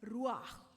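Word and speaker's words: רוּחַ: इसका मतलब है इस इसको कहा जाता है रुआ। आर यू एच रुआ। और उसको प्रोनाउंस करते हैं रुआ रुआ या रुआ और कुदस या पाक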